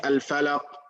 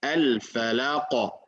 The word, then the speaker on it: الفلق: You cannot say al-falaq, khalaq, waqab, waqab. That's another way. I mean, that's another way that, of course, we should avoid, right? Waqab, fil uqad, hasad. This all not the right way to say it. The proper way of saying it, al-falaq, khalaqa, waqaba, al-uqad, hasada.